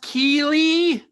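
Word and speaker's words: Keighley: is jeff jeff keely anybody i think it's pronounced keely spelled strangely but i think that's right um can someone find jeff please okay well cue the graphics hey guys it's jeff keely and welcome to the summer game fest july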